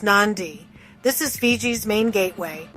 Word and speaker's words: Nadi: Nadi, pronounced Nandi.